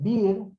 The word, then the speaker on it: Beare: Este es el catastro Beer, es un francés que vino a la Argentina a dibujar, se escribe Beare, vino a dibujar todos